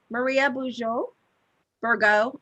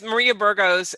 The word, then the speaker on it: Maria Burgos: with you thank you maria boujou virgo i'm sorry why did i say your name wrong yes maria burgos and i i tell